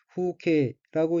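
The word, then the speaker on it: 風景: 넷째 줄 첫 번째 어휘는 한자가 한국어로 풍경이고 일본어로는 후케라고 읽으며 후케는 풍경이란 뜻입니다.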